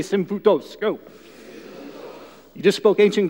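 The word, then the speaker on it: σύμφυτος: on the screen is this Greek word it's pronounced simbu tous everyone say sim foote dos go you just spoke ancient Greek that cool yeah fellow nerds we think that's cool that just play along so sim photos it's this it's this Greek word and you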